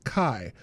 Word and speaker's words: chi: Chi in Japanese is pronounced like the first syllable of cheese. Oh, and I know. Well, oh, I see. Because in Greek it's kai, but in Japanese it's chi.